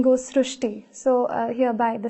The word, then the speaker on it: Srushti: pronounced as Rue so that is why the pronunciation goes srushti so hereby the spelling sir so you are